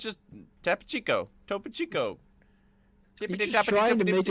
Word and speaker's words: Topo Chico: It's got 2 O's. Where are you getting the I from? Who? You. I don't know. It's just Tapo Chico. Topo Chico.